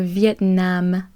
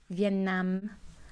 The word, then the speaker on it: Vietnam: I've heard the pronunciation in Canada, and I've heard the pronunciation of that in France as well. In Canada, it's a little bit more nasally sound. Vietnam. And in France, it was Vietnam. Nam, nam. Either way, Viet, exactement le même.